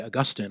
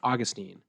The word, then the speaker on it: Augustine: it's the same reason I don't say Augustine I say Augustine because that's how Americans say it and it's really pretentious